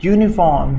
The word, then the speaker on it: uniform: เสียงอ๋อๆอ่างอยู่นิเวอร์ซิตีออฟเสียงยอยักษ์มาอยู่ใน First City ก็ต้องเป็น are you First ที่โอเคปะเห็นไหมเห็นแม่เห็นนะอ่าต่อไปนี่อีกเหมือนกันยูนิฟอร์ม uniform ยูนิฟอร์มเสียงยอยาอีกเหมือนกันเพราะฉะนั้น Share & ได้ไหมไม่ได้นะต้องใช้อ่ะแล้วนะอ้ายูนิฟอร์มชุด 1 ชุดเองนะอยู่ในเฟสทีแปลว่ามหาวิทยาลัยนะ เจ้าหน้าที่ในเฟรชทีก็คือมหาวิทยาลัยแห่งนึงนะโดยที่ไม่ได้กำหนดว่าเป็นมหาวิทยาลัยอันไหนนะมีมหาวิทยาลัยร้อยมหาวิทยาลัยทั่วประเทศไทยนอกแต่เราไม่ได้ระบุพระพูดแค่ว่ามหาวิทยาลัย 1